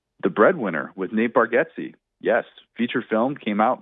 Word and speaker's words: Bargatze: I'm a I'm a huge Nate Bargatze fan and real fans know it's Bargatze not Bargazzi.